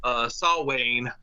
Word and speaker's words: Samhain: And Sam is short for Samhain, even though the M's not pronounced in Salwayne.